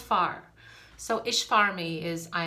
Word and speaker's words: fear: for man in gaelic f-e-a-r but it's pronounced far so ish farmy is